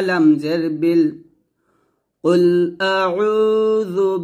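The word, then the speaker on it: قل: এখানে দেখুন কুল অর্থ হচ্ছে বলো, তো আমরা যদি এখানে কফ লাম পেশ কুল এটা না বলে কাফ লাম পেশ কুলের মতো উচ্চারণ করি, তাহলে এই যে কুল অর্থ যে বলো, এই বলো অর্থটা কিন্তু চেঞ্জ হয়ে যাবে।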